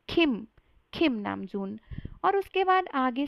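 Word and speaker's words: 김남준: सा ब्रेक करके बोलो, खिम नामजुन, खिम नामजुन। तो आरएम का जो रियल नेम है उसको हम प्रोनाउंस करेंगे खिम नामजून, ना कि किम नामजून, जो कि बहुत गलत है।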